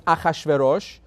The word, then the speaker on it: Achashverosh: His name in English is Hashirisis. Well, they want to simplify, so they call him Xerxes. But that's not his name. It's not anything in English they don't know how to pronounce. They put a couple of X's in there. That's what it is. Xerxes, right? But his real name was Achashverosh, or he was Persian, right?